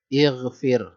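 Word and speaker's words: اغفر: Kalau nggak ada Robbi, ini dibacanya alifnya dibaca harokat apa? Nah, dibacanya pasti harokat kasroh. Kenapa dibaca harokat kasroh? Karena huruf ketiganya kasroh, maka alifnya dibaca kasroh. Rabbighfir. Nggak ada Robbi, ighfir.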